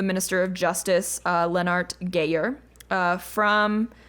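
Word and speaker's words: Geijer: Leonard gayer uh from it's like GE e i uh j e r and there's like the the Y is like two syllables and I can't quite pronounce it quite right it's not just gayer like Grant it's like y y i that was so unexpected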